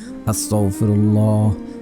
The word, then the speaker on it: আস্তাগফিরুল্লাহ: আস্তাগফিরুল্লাহ, আস্তাগফিরুল্লাহ, আস্তাগফিরুল্লাহ, আস্তাগফিরুল্লাহ। অনেকে পরে আস্তাগফিরুল্লাহ, আস্তাগফিরুল্লাহ, এভাবে পড়বেন না, উচ্চারণ ঠিক হবে না, তাহলে কাজে আসবে না।